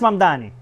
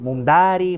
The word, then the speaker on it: Mamdani: Fíjense, nadie sabe pronunciar mi apellido. Es Mamdani, pero a cada rato me dicen Mumdari, Mumnari.